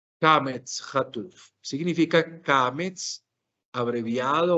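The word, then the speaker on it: קמץ חטוף: O sea, es casi que una pronunciación mucho más breve, obviamente, el Kametz Rahav, pero atención que lo que pronunciaremos aquí será una O. Se translitera como una O, se pronuncia como una O.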